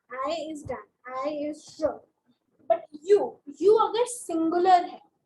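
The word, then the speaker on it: je: If I'm talking about myself, I will say J-E, J-E in spelling. How do I pronounce it? I pronounce it as J.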